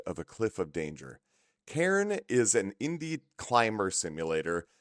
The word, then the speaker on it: Cairn: Okay, so it's pronounced Cairn, as in like a cairn of rocks.